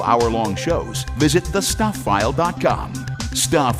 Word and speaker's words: Stuph: Stuff is spelled s t u p ph.